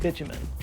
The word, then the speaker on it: bitumen: mistranslation of the word bitumen. Bitumen, or bitumen, I've heard it pronounced both ways, it's basically the same as asphalt.